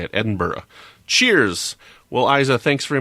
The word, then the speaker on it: Edinburgh: that's rightly taught me how to say it Edinburgh Cheers well Aiza thanks very much for sending